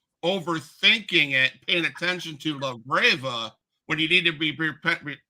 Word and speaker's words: Labrava: You gotta learn how to roll your R's.